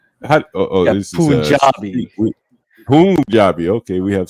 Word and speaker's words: Punjabi: Punjabi or Punjabi?